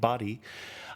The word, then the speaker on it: Bari: Our secretary was from Bari. She pronounced it Badi.